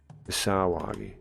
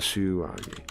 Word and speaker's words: Sawagi: It's A. It's Sawagi. Not Suwagi. Sawagi.